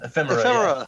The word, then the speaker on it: Ephemera: the other one, and I always mess the pronunciation up, Ephemera? Ephemera, yeah.